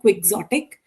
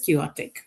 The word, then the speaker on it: quixotic: Remember the X is silent, so it is not quick-sotic, it is quixotic.